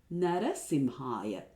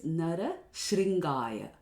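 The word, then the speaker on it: नृसिंहाय: A very common mispronunciation is Narashringaya. Now Shringa basically means horns. So by saying Namaste Narashringaya, we are saying I bow down to the person who has horns on his head.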